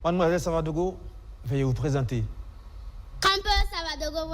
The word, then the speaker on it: Savadogo: Parce que là, quand j'avais dit Savadogo, vous m'avez tout de suite repris, c'est Savadogo, plus précisément.